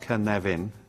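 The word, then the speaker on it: Cynefin: it's been this is the Canadian framework pronounced Ken Levin for those of you who don't speak Welsh now the origin of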